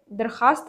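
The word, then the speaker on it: درخواست: होगा और दरख्वास्त में दरख्वास्त में वाव जो है ना ये पूरा का पूरा साइलेंट है तो ऑप्शन नंबर सी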